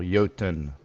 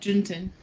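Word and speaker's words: Jötunn: It's pronounced the Jotnar as plural. Jotun. I would have said Juntin.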